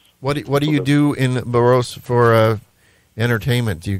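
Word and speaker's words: Borås: French word with a U or something like Burros what do you do in burrows for uh entertainment do you go out and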